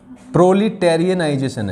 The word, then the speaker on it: proletarianization: प्रोलिटेरियनाइजेशन है वैसे तो, TARIANIZATI, ठीक है। देखो यहां तक बोलो इसे, प्रोली, टेरिए यहां तक भूल जाएगा, और नाइजेशन तो सिंपल ही है, प्रोलिटेरियनाइजेशन, है ना, प्रोलिटेरियनाइजेशन।